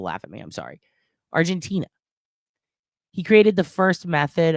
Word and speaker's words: Argentina: chief of police in argentinia Argent Argentina I always say it wrong Argentina Tina like your friend in Middle School you stupid [ __